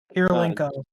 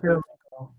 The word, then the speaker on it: Kirilenko: this team consists of Trey Young, Reggie Miller, Julius Irving, AK-47 because I'm scared to pronounce that name wrong. Kirilenko, Andre Kirilenko, Kirilenko.